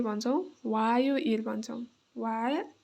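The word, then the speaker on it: 화요일: मंगलबार मंगल मंगल बार है अब मंगलबारलाई चाहिँ के भन्छौ वायो इल भन्छौ।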